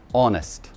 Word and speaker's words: honest: урок бесплатно следующее слово как вы произнесете его honest он ест он из них он ест мы не читаем в этом слове букву h он из он ест